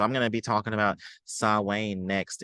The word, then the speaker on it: Samhain: So I'm gonna be talking about Sawane next. It looks like Sam Hain, but that's not how you pronounce it.